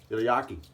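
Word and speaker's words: Yaqi: So the brush, Yaki. That's how I pronounce it. Y-A-Q-I brush.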